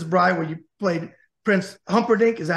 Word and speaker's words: Humperdinck: You mentioned it, The Princess Bride, where you played Prince Humperdinck.